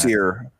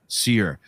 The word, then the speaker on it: Cyr: He was a like cyr I don't know how to pronounce that. Seir. Seir.